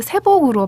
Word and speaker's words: 새벽: 진주 사투리로 새벽을 세복으로 발음하더라고요.